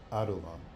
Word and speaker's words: Adullam: Okay? I think it's pronounced that way. Yeah. And the scripture says it plainly, and almost casually, "David therefore departed thence and escaped to the cave of Adullam."